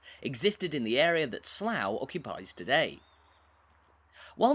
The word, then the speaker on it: Slough: mound one of the best ways to understand slough's Origins is through the town's name Which packs a lot of history into just one syllable despite its spelling the name is pronounced Slough not Slough or slow and there are a